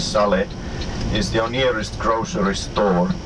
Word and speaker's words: Sale: And just now on your right, this Sale, well Sale, but Sale it's pronounced in Finnish Sale, is your nearest grocery store.